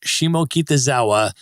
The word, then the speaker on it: Shimokitazawa: And now, Becky, I want to ask you about your new book, Shimokitazawa, A Tokyo Beginner's Guide to the World's Most Walkable Neighborhood.